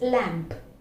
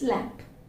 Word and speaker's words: lamp: sound is heard it's lamp then we utter the last sound it's lamp so that's the difference